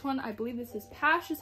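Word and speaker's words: PASH!: got was this one i believe this is pash is how you pronounce it and it has some token rhombu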